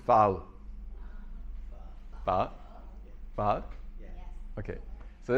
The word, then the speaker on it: pho: Now, this is a bowl of, I've been told that this is not, Europeans pronounce this pho, but it's not, and Vietnamese pronounce it phao.